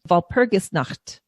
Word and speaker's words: Walpurgisnacht: And I was corrected quickly because that means naked. So, you want to make sure you say the right thing if you're saying. So, Walpurgisnacht. Yeah, I was just waiting